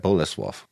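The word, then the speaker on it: Bolesław: Boleslav. Cool. That is how you say it. I'm getting better with my Polish pronunciation.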